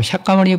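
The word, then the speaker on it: शाक्यमुनि: 그런 것이고 실제로 석가모니불 인도 발음으로 샤카모니 붓다. 이분이 우리와 똑같은 사람으로서 왕자로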